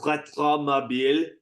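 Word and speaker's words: Rétromobile: It's actually pronounced Retromobile, so get it right, okay? Apologies to my Stupid French.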